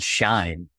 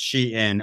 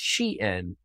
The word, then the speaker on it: Shein: I thought it was called Shine. I actually just Googled it, how to pronounce, so I didn't sound like an idiot. It is pronounced Shein, according to Shein Official's Twitter.